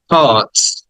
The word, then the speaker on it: heart: the next word is হার্ট হার্ট আট টাকে টেনে বলতে হবে হার্ট হার্ট এই আর্টটা বা র সাউন্ডটা ব্রিটিশরা উচ্চারণ করে না এজন্য ওটাকে সাইলেন্ট করে